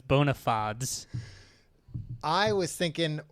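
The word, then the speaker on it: bona fides: Is that how you pronounced that phrase? Bonafites. It's bonafods.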